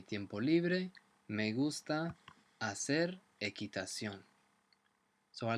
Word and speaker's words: equitación: Notice as well that the QU sound is not a qu sound like in English, it's a hard k sound. Equitación.